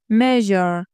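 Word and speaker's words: measure: پلند پلند پلند مرژر مژر حرف اس تو این کلمه به صورت ژ خونده میشه مژر یعنی اندازه گرفتن اندازه‌گیری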